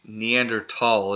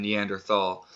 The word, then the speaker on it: Neanderthal: this time to say Neanderthal is a more accurate pronunciation than the and Earth all but we're about to